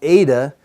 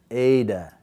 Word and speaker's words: eta: But when we pronounce this one, which is a long, eta, the tongue is near the top, epsilon, eta. So our tongue moves closer to the roof of our mouth when we say it.